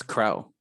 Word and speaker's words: krel: cairo or krell people what's the official pronunciation tool is it krell or krell yeah it's krell it's crowl oh never knew um